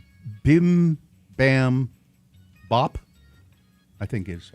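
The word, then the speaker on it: Bibimbap: Bim Bam Bop, I think is how you say. Bibam Bop.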